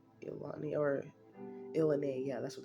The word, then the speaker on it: ilani: Casino the um illan I used to call it ilani because the way it's spelled like i l a n i but then I heard from people who gamble all the time um they call it they said it was called elani or IL yeah that's